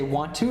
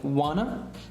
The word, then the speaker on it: wanna: see here Juana so he doesn't say want to he says Juana and maybe you know